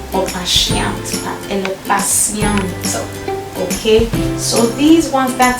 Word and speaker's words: patiente: The T here is pronounced like an S. You don't say patiente or patiente, but elle est patiente.